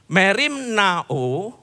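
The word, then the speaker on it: μεριμνάω: Merim Now bukan ro ya, bukan ya. Perhatikan ini. Kata yang diterjemahkan sebagai khawatir adalah kata Yunani merim now. Merim nao. Kalau Yunani biasanya membacanya begitu.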